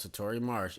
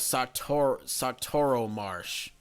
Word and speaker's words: Satoro Marsh: See, I've been pronouncing it wrong. It's actually called Satoro Marsh.